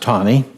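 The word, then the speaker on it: Taney: and I can't help but being a Civil War buff myself, it is pronounced Tawney.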